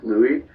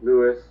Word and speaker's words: Louis: it is it is louis it's french my dad was my dad's french canadian so uh the proper pronunciation is louis yes is silent but uh lou lewis new man whatever you